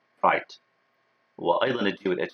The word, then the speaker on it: Wright: لا تنسوا أن الW مع الR الW silent ما تلفظ right.